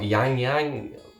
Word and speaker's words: ylang ylang: ylang vanilla and amber i've had a few comments about how i pronounce lang lang and i guess people call yang yang yulang yolang um i just call it lang lang excuse me if i'm wrong then oh yeah this